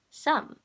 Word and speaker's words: Sum: my name is sam you can find me anywhere my it's spelled some like to sum it up okay okay that's all